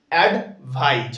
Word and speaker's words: advice: যেটাতে এস যুক্ত থাকবে ওটাকে আমরা কি বলবো অ্যাডভাইস okay so অ্যাডভাইস basically means to give an